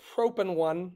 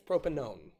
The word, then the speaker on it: propanone: does doesn't it um but we don't pronounce it one so it's not propen one it's propanone it's not hexen 2